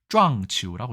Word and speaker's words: 撞球: 발음은 당구와 조금 다른 쫑치우라고 얘기합니다.